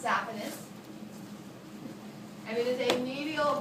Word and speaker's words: saphenous: And this is known as the great saphenous or saphenous. I pronounce saphenous.